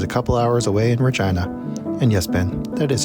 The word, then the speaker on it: Regina: The closest place similar to one like this is a couple hours away in Regina. And yes, Ben, that is how you pronounce the name.